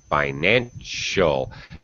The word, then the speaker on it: financial: example becomes irving finances financial this c by the way yeah uh is an s h sound financial and artificial it makes